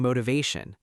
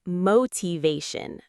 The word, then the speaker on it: motivation: Many learners say motivation, but the correct stress is on the third syllable.